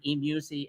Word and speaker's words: eMusic: She showed it to me on her And phone, and it's so eMusic. cute. How do you say that? E-music, yeah.